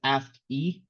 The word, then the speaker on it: ASCII: intro to ask values pronounce ask e uh ask stands for